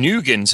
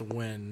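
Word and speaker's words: Nguyen: Ben Nugent's another one who people were saying, but no way. Come on now, we all know it's Holly Holm. Wow, slam dunk, Jay. I think it's pronounced Win, not Nugent.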